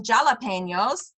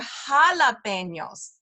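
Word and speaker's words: jalapeños: that's a word meaning we don't call them jalapenos they're jalapenos so that's a h Jesus in English is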